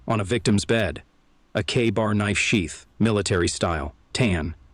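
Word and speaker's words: KA-BAR: And yeah, we're pronouncing that bad boy like it's written, K-bar.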